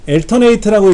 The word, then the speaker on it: Alternate: 그 다음에 이제 Alt 키, Alternate라고 읽죠? Alternate.